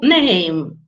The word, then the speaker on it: name: We don't pronounce E, but we pronounce A as it is called in the alphabet.